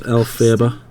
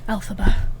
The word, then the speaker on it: Elphaba: Who the heck is Elphaba?